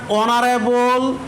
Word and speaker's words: honorable: অন the other hand I have used an before honorable because the word honorable is started with consonant but we pronounced the vowel O, অর্থাৎ honorable, our, honest এদের আগে সবসময় এন বসে।